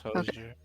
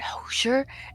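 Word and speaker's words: Hozier: it's Hosier.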